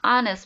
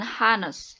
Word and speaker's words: honest: Di sini juga sama, walaupun diawali dengan huruf H, ya, tetapi dibacanya honest, bukan honest.